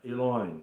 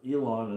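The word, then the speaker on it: עליון: final form of noon uh Eline is actually how it's pronounced but Elon is is an interesting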